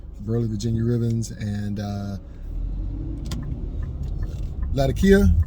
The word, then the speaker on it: Latakia: virginia ribbons and uh latakia or some people pronounce it the cate i think i've always called it uh latakia and it also has